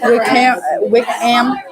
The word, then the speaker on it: Wickham: Because some people say Wickham, that H is silent. So Wickham.